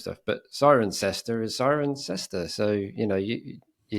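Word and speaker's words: Cirencester: our friend Leon Walker how do you pronounce the club siren sester yeah you wouldn't think that looking at it would you yeah it's one of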